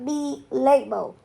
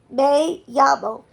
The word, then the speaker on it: me llamo: Luke, it's not me llamo, it's me llamo.